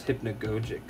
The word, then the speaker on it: hypnagogic: I think it's called hypnagogic or hypnagogic. I think the right pronunciation for it is hypnagogic.